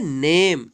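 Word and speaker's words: name: देखते हैं एन ए एम A disco करेंगे नेम इसको ने में नहीं पड़ेंगे या पढ़िए नेम पढेंगे क्योंकि यहां पर चीज है साइलेंट हो गया है इसे कोई उच्चारण नहीं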